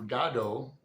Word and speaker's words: Godot: I'll see if I can find one where Samuel Beckett's career with Waiting for Godot, that's how Beckett pronounced it, and his fiction.